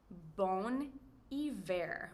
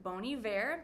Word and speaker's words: Bon Iver: haat kan een indie folk rock art est bon iver bon iver design hebben be really cool ze nemen zelf